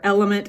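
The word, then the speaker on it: LMNT: below I love Ultima brand and element or element as it's pronounced both are great sources of nutrients minerals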